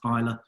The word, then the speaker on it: Islay: then I like it looks like it said Islay but it's pronounced Pilar that's got nine distilleries on that on that